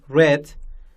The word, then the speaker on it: read: Leave left, feed fed, bring brought, swim swam, and buy bought, drink drank, go gan, catch caught, read, we just change the pronunciation, we say read, make made, give given, sing sung, teach taught, ring rang, do done, eat eaten.